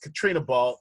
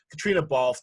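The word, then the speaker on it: Caitríona Balfe: Katrina Ball. I think I'm messing with it. Yeah, it's Katrina. It's spelled in a very traditionally Irish way, I guess. Katrina Balfe, the lead.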